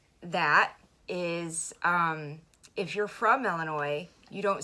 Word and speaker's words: Illinois: talk about facts and myths about Illinois.